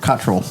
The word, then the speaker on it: Cottrell: pronounces That's his name. So Cottrell.